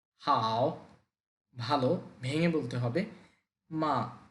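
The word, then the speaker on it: 吗: ভালো ভেঙ্গে বলতে হবে মা নরমাললি নিউট্রাল এটাকে নরমাললি বললেই হবে মা এটা দ্বারা কোশ্চেন বুঝায়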